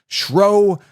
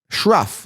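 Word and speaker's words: Shough: It looks like Ruff, but it's Shro, however you want to pronounce it. Tyler Shro, I don't care, but it looks like Shruff, like Rough, whatever is rough. So it's Shruff, whatever, whatever.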